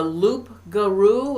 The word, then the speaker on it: loup-garou: It's the loup-garou, is that how you pronounce it?